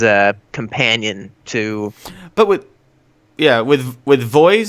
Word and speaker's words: VOEZ: But with Voice, is that how you say it? Voice or Voez, VOEZ? Voz. I think it's Voz or Voz. something. Yeah, Voz.